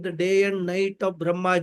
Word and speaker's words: Brahma: two words are there one is brahma with a long auruka brahma and brahman which is the niruna brahman which is beyond time and space. So that Brahma with a long a is Saguna Brahma and who is Mr.